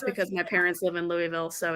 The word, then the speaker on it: Louisville: When I used to intern there during the summers, the people would tell me I was saying Louisville too fast. Like, oh, you slow it down. Slow it down. It's Louisville. Louisville.